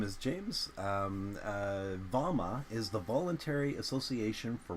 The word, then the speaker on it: VAWMA: welcome uh my name is James um uh Varma is the voluntary Association for work and mutual Aid that is an acronym um and we pronounce it as vama uh and uh vamma is an idea that has been percolating around